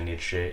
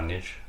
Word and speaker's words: Nietzsche: Et oui, le E se prononce en allemand, du coup c'est Nietzsche et pas Nietzsche.